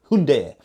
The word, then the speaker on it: Hyundai: Sticking with the H's, we have two Hyundais, or if you're in America, Hyundai.